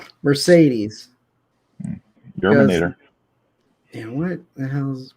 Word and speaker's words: Mercedes: Not Moncada, Mercedes.